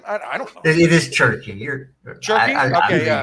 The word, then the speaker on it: Cherki: pronounce his name? I don't know. It is Cherki.